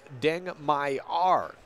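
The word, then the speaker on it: Deng Mayar: players on the court it's Deng my are number one Deng my are not mayor 43:28 on the impact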